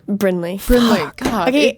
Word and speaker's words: Brinley: with everybody okay we just learned how to pronounce her name mhm on one two threea hey you did wait wait last name bryley Brinley Brinley God okay it's actually not my last